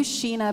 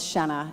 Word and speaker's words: Shenna: he said, "Are you Sheena Bellows?" And I didn't say, "No, it's Shenna. It rhymes with Jenna."